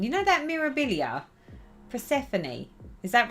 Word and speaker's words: Persephone: never say that name you know that mirabilia persephone is that right yeah that is how you